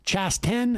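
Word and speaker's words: Chasten: j chavon boudijid's husband name is pronounced chas 10 and they have adopted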